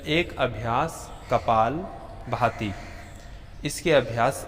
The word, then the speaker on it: कपालभाति: अक्सर लोग उच्चारण करते हैं कपाल भारती, परंतु मूल या असल शब्द है कपाल भाती।